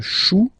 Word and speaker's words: chou: Then, un chou. Okay, remember, when you combine this C and H, you get the sound sh. Chou, un chou.